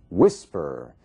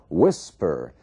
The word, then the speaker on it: whisper: Whisper. Whisper. Você vê que a força da palavra, a sílaba tônica, está na primeira parte. Whisper.